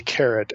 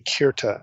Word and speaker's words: Keret: are parallel by the carrot epic so you ask well what in the world is the carrot epic or the Kira epic you'll see it referred to both ways carrot is spelled k r